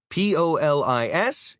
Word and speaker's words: polis: P-O-L-I-S is the police, but it's pronounced like polis rather than police.